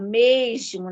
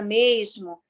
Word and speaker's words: mesmo: O S fechando sílaba, por exemplo, aqui no Rio de Janeiro, a gente usa também mais chiado, mesmo, né? Como na palavra mesmo, enquanto em outras localidades a gente encontra outro outra pronúncia desse S, como mesmo, alguns pronunciam dessa forma.